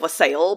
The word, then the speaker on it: wassail: It's spelled looking like wassail, but people always say wassail.